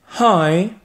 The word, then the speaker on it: Hi: Alors, fais bien attention à bien prononcer le H qui est un peu aspiré. Réécoute encore une fois. Hi. Hey. Parce que si tu ne prononces pas le H, tu vas dire I, et là ça veut dire je, et pas salut.